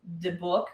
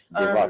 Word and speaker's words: dybbuk: It's Dybbuk, I think is how it's pronounced. Dybbuk, which is actually COVID backwards.